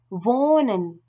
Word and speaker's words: wohnen: Après une voyelle, par contre, le H ne se prononce pas, mais il allonge automatiquement cette voyelle. Nehmen. Prendre. Nehmen. Prendre. Wohnen.